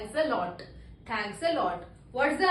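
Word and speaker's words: elle: L. How do we pronounce it? L. L. L for leopard.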